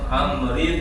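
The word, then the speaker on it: عمرو: Faqala, maka orang tersebut berkata, sabaqtu bna Amrib, walaupun ada wawunya bacanya Amrib bin Al-As.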